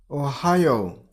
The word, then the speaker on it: Ohio: Ohio. Stress on the middle syllable. I mean on high sound. Ohio.